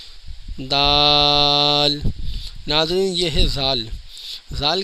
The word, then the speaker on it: د: کا صحیح تلفظ ہے، دال جب آپ پڑھیں گے تو اس کے اینڈ میں لام کی آواز نکلے گی، دال۔ ناظرین، یہ ہے زال،